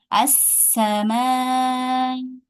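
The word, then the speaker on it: السماء: Kemudian di sini juga sama. As-sama. Ya, ini juga sama menjadi fathah hamzah wasalnya.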